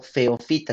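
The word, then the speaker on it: Phaeophyta: si son miembros del filo feo fita sino porque están no son feas sino que pues así se pronuncian y están algunas algas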